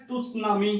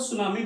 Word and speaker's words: tsunami: सु मतलब कि अगर इसे कई लोग क्या बोलते हैं, टुसनामी या तुसनामी, ये गलत है। प्रोनाउंसिएशन क्या बोलते हैं, टी साइलेंट होता है और सुनामी बोलते हैं।